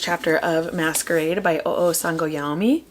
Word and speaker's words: Sangoyomi: And then I listened to the first chapter of Masquerade by Oo Sangoyomi. Sangoyomi. That's how they pronounced it in the audiobook.